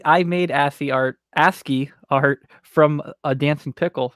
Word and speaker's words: ASCII: terminal Maps key yeah it's pronounced ascii not a see I like Cathy s